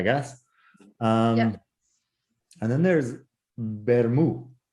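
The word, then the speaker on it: vermut: you do have a tea you would not pronounce it so that's where you get bermu so you know vermouth is just red wine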